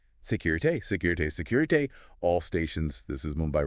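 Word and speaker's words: Sécurité: Security. Security pronounced security.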